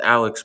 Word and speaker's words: Alec: After talking to family, the furthest I could go back is to Alec, most likely pronounced Alex Boyd, born in 1888.